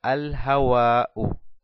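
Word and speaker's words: الهواء: Vamos abajo, hawaun más el artículo alef lam, digo al-hawa'u, al-hawa'u. Puedo pronunciar el alef y el lam, digo el aire, al-hawa'u.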